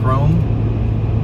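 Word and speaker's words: Krome: the right turn and never made it to chrome avenue that was a bummer but we headed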